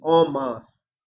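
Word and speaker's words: en masse: the first word okay the pronunciation the pronunciation is Omas Omas is all together okay Omas is all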